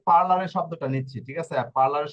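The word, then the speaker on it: parlare: দেখি হ্যাঁ এই যে দেখুন এখানে এই যে পার্লারের শব্দটা নিচ্ছি ঠিক আছে পার্লারের শব্দটা নিয়ে যদি উচ্চারণ করি এই যে দেখুন পি আ পা এরপরে কি রে হ্যাঁ পার এরপরে হচ্ছে এল এ আরে এ পার্লারে এখন কথা হচ্ছে পি আ পা ঠিক আছে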